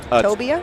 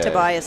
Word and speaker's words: Tobia: Tobia. Tobia. There's no s. It's just I did say Tobias the first time cuz that's such a fun name to say, but I'll say it correctly now.